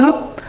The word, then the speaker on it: নয়: এবার এইখানে নয়ের উচ্চারণটা ও এর মতো হয়েছে। নয়ের উচ্চারণটা ও এর মতো হচ্ছে, নো বলেন না, নো বলেন।